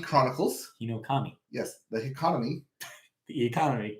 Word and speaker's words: Hinokami: All right, look forward to your pronunciation here. Kimetsu no Yaiba - the Hikamani Chronicles. Hinokami.